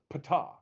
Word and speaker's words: Ptah: And then and one of them is Ta, which our guide pronounced as Ptah.